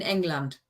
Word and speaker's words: England: Except you need to pronounce it in German, so it's in England. England.